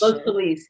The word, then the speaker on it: Los Feliz: Not only that, but she's she's um we're in here at the Los I think you pronounce it Los FileZ or Los Feliz House. Los Feliz. Yeah, Los Feliz House.